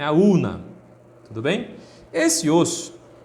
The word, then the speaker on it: ulna: continuaremos aqui com osso urina tá eu digo não é claro que você não vai pronunciar assim porque tem um l aí entre o e o n é aluna tudo bem esse osso